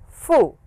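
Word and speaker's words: ふ: hee hoo hey ho now you will notice this sound is somewhat who and somewhat foo so whichever is easy the actual sound is who as you blow air out but you can also say for if it is very very inconvenient when I'd like to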